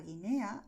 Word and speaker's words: Guinea: En el caso de Guernica, Guinea, la U se escribe, pero no suena, ¿vale?